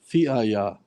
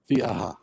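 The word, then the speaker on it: فئة: Fi'aya. No, we're stopping on the ha. It's a ha sound, not a ya. Fi'aha.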